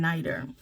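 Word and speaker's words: nitre: and as vinegar upon nighter. So it's spelled n I t r e but it's spoken in like n i t e r.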